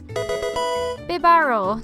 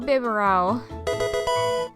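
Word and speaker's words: Bibarel: is actually reg I biar not bibero this thing is actually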